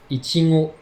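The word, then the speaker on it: いちご: La fraise se dit en japonais ichigo.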